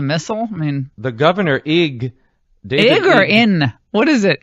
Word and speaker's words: Ige: I mean, the governor Ig or In? What is it? In or Ig?